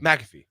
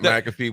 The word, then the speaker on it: McAfee: M always always screw up his last name mcafe Pat M you said it right yeah me